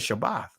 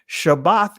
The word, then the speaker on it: Shabbath: What is Shabbath? Right? That Shabbath is the correct pronunciation.